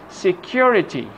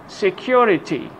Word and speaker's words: security: Put the stress on the syllable before ITY. Okay, let's have some examples. Electricity, electricity, electricity. This is the part which is stress. Security, security.